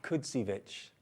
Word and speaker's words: Kudzievich: thank you so much to help you pronounce my name it's ah kudzievich thank you thank you